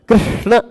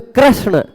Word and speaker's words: कृष्ण: कृष्ण कृष्ण, अब इसमें कृष्ण, बहुत सारे लोग कृष्ण बोल जाते हैं, कृष्ण, री के जगह र बोल जाते हैं, है ना।